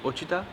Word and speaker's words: Ouachita: Ouachita को pronounce करते हैं यूचिटा और लिखते हैं OUCHIT. ओचिटा, OUACHIT.